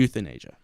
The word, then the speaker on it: Euthanasia: Euthanasia. Spelled Youth. Not EU. Okay, so it's spelled youth. Yes. In like Asia. Youth like young. Yeah. Anasia.